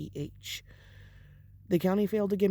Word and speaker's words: Wurzbach: I don't know how to pronounce her last name. It's Wurzbach.